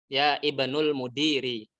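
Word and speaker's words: ابن المدير: bacanya gimana harganya dibuang Ibnul mudiri kalau ibnunya di posisinya di tengah-tengah kalimat maka Ibnu hamzahnya tidak dibaca ini ini ibunya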